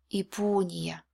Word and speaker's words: Япония: Next яр is not stressed, but it's not at the end of the word, so it will be E. Ипо. Ипо. And the last яр will be also Y because it's at the end of the word. Ния.